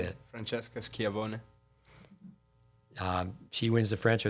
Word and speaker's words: Schiavone: But help me with the pronunciations. Flavia Pennetta, 2015 U.S. Open. Yeah. Scavone, Francesca. How do you say that? Francesca Schiavone.